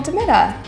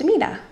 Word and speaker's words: DeMita: heard of her but today we have to Metta thank you for coming on my channel yeah thank you so much for having me and it's actually pronounced Amina so do you have a real job